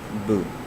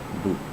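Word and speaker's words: 不: not i know and this one is boo so it's just down so boo it can um i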